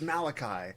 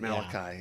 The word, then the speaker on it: Malachi: Question not my judgment, Mordecai. No, it's Malachi. Oh, that's Malachi. That's right, Malachi.